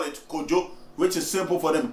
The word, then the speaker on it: Kojo: The modernized version is K-O-J-O. And check the ancient one. K-W-A-D-W-O. Where is the similarity? But it's still pronounced the same name, Kwajo or Kojo.